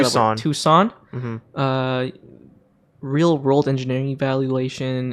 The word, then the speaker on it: Tucson: Tucson.